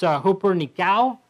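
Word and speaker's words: ὑπερνικάω: It's pronounced hooper nikao. The latter part of that nikao is the Greek word for Nike, or how where we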